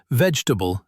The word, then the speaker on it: vegetable: 2 common ones are vegetable and comfortable. Say them quickly and lightly. Vegetable, comfortable. Don't push every syllable, just let the sound flow.